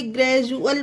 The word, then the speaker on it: gradual: GRADUAL, ग्रेजुअल, इसे ग्रेजुअल पढ़ा जाएगा। डी को जा का उच्चारण देंगे क्योंकि डी के बाद UAL है। यही हमारा रूल है कि डी के बाद UL हो तो डी का उच्चारण जा हो जाएगा।